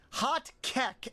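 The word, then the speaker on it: Hotkeke: It's pronounced hot cake, but it's spelled like K E K.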